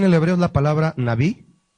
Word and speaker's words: Nabí: La palabra profeta aquí en el hebreo es la palabra Nabí, así, N-A-B, B grande decimos, y una I, con acento en la I, que significa Nabí, que significa hombre inspirado.